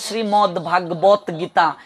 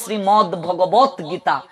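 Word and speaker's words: শ্রীমদ্ভগবদ্গীতা: বলে শ্রীমদ ভাগবত গীতা, কেউ বলে শ্রীমদ ভগবত গীতা, কিন্তু না, শ্রীমদ ভগবত গীতা।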